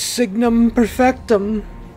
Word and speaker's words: Signum Perfectum: it it could be numerous other types of pronunciations but in my mind i go harry parter and i'm like harry it's signum perfectum so what is signum perfectum it's a collectible